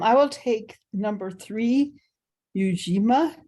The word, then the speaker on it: Ujima: will take number three ujima I'm not sure I'm pronouncing it correctly yes that's correct eugima Collective work and responsibility